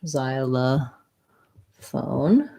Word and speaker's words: xylophone: xyla phone um so we have the z the z sound the letter y says the diphthong i for syllable stress zai la this o says schwa and then phone is um tense o um and the ph says f just like the word phone xy of the phone